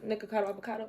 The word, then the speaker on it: Nikocado Avocado: good health to you nicacado avocado oh I said it right that time and so I feel